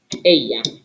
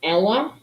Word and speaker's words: ella: El, ella. It looks like Ella. No, it's pronounced ella.